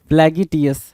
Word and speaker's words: flagitious: लग रहा है भाई सीजीएल के क्वेश्चन है, फ्लैगिटियस, है ना, फ्लैगिटियस। अब क्या है भाई, फ्लैगिटियस को देखना जरा, FLA, फ्लैगिटियस, क्या स्पेलिंग याद नहीं हुआ, FLAGITIOUS, FLAGITIOUS, फ्लैगी, फ्लैगी बोला, FLAGITS फ्लैगिटियस बोल दिया।